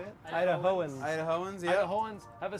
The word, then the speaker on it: Idahoans: Idahoans.